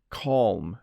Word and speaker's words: calm: Listen, calm. You do say the L and M.